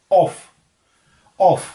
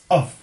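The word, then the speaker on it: of: क्या बोला जाता है, हम इसे बोलते हैं ऑफ, जबकि इसकी एक्चुअल जो प्रोनाउंसिएशन है वो होती है अ और वो, अफ, ना के ऑफ।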